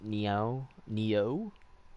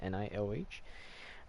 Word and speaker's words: Nioh: Nioh, right? Like Neo, but just spelled differently. Nioh.